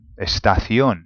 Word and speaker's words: estación: Estación. Okay, estación. Now, it finishes with an N. It's the nose rule. So it actually should be, truly, it should be estación.